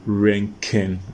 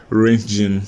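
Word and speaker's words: Röntgen: to pronounce it as region you get me so rent ranking is actually German word and that's why it is pronounced like that so you've got um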